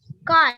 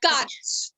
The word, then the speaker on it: cart: So when you say cut, that means that R is now not being pronounced over here. It is not cart. It is not cart. It is not cart. It is cut. Okay. Okay. The R is not pronounced here. The R is silent over here.